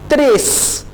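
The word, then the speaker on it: tres: त्रेस, टी को आपने ट्रेस नहीं कहना, आप इसे प्रोनाउंस करेंगे त्रेस, यानी जैसे ते होता है ना।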